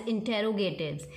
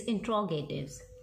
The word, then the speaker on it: interrogatives: You keep speaking the word as interrogatives. Even we teachers also speak interrogatives, but actual pronunciation is interrogatives.